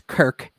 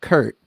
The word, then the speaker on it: Kirk: the washington uh gm it's kirk not kurt uh because he didn't